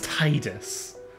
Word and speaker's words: Tidus: Yes, some people say it should be pronounced Tidus, is it? I'm not having that. It's Tidus.